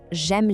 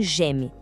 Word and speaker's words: j'aime: Atenção total aqui na pronúncia de j'aime. Muita gente tende a falar j'aime, separado, mas o som é mais fechado e rápido, quase uma sílaba só. Pense em j'aime.